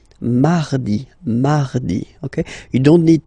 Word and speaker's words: mardi: So you can hear that you don't pronounce it that strongly, this R. Huh? Mardi, mardi, okay?